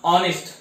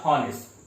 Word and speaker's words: honest: We pronounce ऑनेस्ट, नॉट हॉनेस्ट.